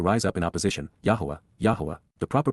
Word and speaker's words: Yahowah: and emphatic to rise up in opposition, Yahowah, Yahowah, the proper pronunciation of the name of Eloah, God as directed in his Torah, teaching regarding his Haya.